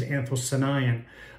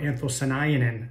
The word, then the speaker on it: anthocyanin: That dark red color, and I'm probably going to pronounce it wrong, I'm always corrected, is anthocyanin, or anthocyanin, as other people describe it.